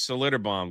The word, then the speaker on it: Schlitterbahn: This water park that I can't even pronounce its name. I don't know. Uh in in Texas Schlitterbahn There it is, Schlitterbahn, very good.